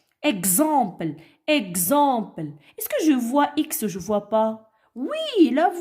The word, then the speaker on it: voix: ne se prononcent pas je voi x mais ne se prononce pas ne se lit pas une voix une voix j'entends par 60 60